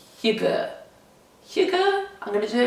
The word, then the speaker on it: hygge: I'm going to do a video all about, now let me pronounce this in the true Danish way, hygge.